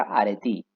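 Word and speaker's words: ἀρετή: anteriormente los griegos usaron el término arete que en realidad se pronuncia arete en griego podemos decir que la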